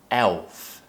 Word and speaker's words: Elf: Again, a dark L. Elf.